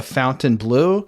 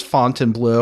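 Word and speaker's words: Fontainebleau: a place that was like playing on the font Blue by calling it The Fountain Blue no did they just not know how to pronounce it cuz then somebody else comes on and says font and blue it's the blue that's what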